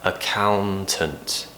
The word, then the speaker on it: accountant: be a Countians accountant now with that N in the middle account you need to kind of just get your tongue on the top of your mouth accountant accountant so for example I'm an accountant try and finish with the T but you don't have